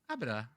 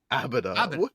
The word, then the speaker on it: Abita: Yeah, it's can Abita. you clarify? Abita. Okay. Abita, okay. not Abida. Abida. Okay. I have been pronouncing it wrong too. Okay, it's a beta.